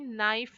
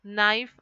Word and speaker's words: knife: of words here knee knife knot and no here in all the four words K is silent okay even though K is written here we are not pronouncing it we say knee knife not and no so